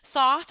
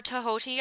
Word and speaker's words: Thoth: Hathor finds the eye and takes Horus to Thoth or Tahoti. I've heard it pronounced both ways.